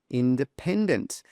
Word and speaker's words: independent: Independent. The stress is on the pen, independent.